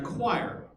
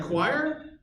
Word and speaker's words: quire: I was like oh it's like Squire without yes yeah but yeah it's spelled completely different very good yeah all